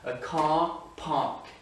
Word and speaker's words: car park: A car park. Ce R et ce R-là ne se prononcent pas. A car park. Et là, so British.